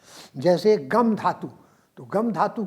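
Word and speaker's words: तिङ्: संस्कृत में क्रिया शब्दों में लगाए जाने वाले प्रत्यय को तिंग प्रत्यय कहते हैं। ती छोटा और क ख ग ङ। आपने देखा, मैंने इसका उच्चारण किया है। अंग, अंग, ये उच्चारण नहीं है।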